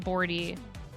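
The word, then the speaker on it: Bordhi: Um, it's called New Pathways for Sock Knitts by Cat Bordy and her last name is spelled B O R D H I.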